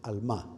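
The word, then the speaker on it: עלמה: La palabra hebrea alma, así se pronuncia más o menos al má.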